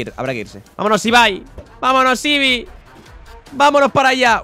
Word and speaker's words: Ibai: Ibi, se pronuncia Ibai, ¿eh, amigos? Para la gente que no lo sepa.